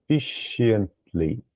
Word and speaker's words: efficiently: efficiently. Então esse SH aqui é o sh. Efficiently. Então ficaria Efficiently. efficiently.